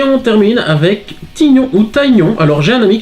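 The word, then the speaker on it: Tygnon: Alors j'ai un ami qui m'a dit qu'on devait dire Taignon, moi j'avais toujours dit Tignon. Bah écoutez, Taignon ou Tignon, vous dites un petit peu dans les commentaires ce que comment vous le prononcez. Et voilà, donc... moi je dis Tignon, voilà.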